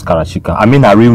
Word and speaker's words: Karashika: say her name is her name is Kara It's Not only Cara it's karachika I mean her real